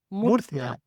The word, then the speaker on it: Murcia: Is Murcia? Murcia.